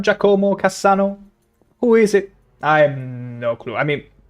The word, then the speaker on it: Giacomo: pronunciation hurts my soul. Giacomo. No. Oh. Oh, that hurt. Oh, that hurt. It's Giacomo. Never say that again. Never say Giacomo again.